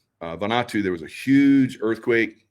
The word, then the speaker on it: Vanuatu: I believe it's pronounced Vanuatu. Vanuatu, there was a huge earthquake, or not earthquake, but a volcano that blew massive.